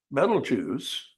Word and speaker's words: Betelgeuse: Betelgeuse, and that is the correct pronunciation, I am told, is not as big.